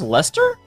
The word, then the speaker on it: Leicester: That's pronounced Lester?